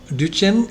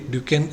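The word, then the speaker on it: Duchenne: Duchen's muscular drophe is also duchen. It is also pronounced as duchens and somebody duken etc.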